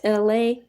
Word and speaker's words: Elay: So, my name is LA, pronounced like LA, like the city.